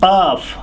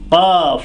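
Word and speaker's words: ق: So qaf, qaf is coming from down here.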